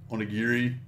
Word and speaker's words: onigiri: And onigiri, that's how you say it.